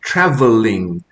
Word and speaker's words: travelling: But the double consonant actually indicates that the preceding vowel is a short vowel rather than a long vowel. So it's pronounced travelling rather than traveling.